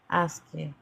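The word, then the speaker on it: ASCII: you say asy c r i asky um interesting.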